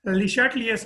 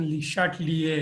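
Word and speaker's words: Le Chatelier: अच्छा, ले चाटलियर्स प्रिंसिपल। ये ले चाटलियर्स प्रिंसिपल क्या? ये एक फ्रेंच केमिस्ट था, हेनरी ले चाटलियर, इसको ली चैटलियर भी प्रोनाउंस करते हैं, बट इसकी सही प्रोनाउंसिएशन ली शाटलिए है, ठीक है।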